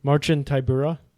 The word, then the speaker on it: Marcin Tybura: That's how you pronounce his name? Marcin Tybura.